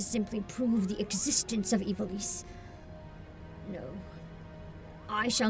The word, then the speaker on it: Ivalice: Elise, okay, so Ivalice is how the VA say it, then that's gotta be right.